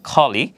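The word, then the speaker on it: curly: ইংলিশে বলা হয় হচ্ছে খলি। এখানেও ক উচ্চারণ হবে না, আমরা কার্লি বলি, বাট এটা শুদ্ধ উচ্চারণ হবে খলি।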